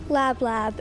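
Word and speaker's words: lablab: to use for food lab lab am I saying it correctly that sounds correct el a B la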